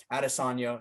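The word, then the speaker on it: Adesanya: be pronounced now because now he said i wanted to be addisonia so i was trying to be respectful like ariel helwani and call him at this on you but whatever dude whatever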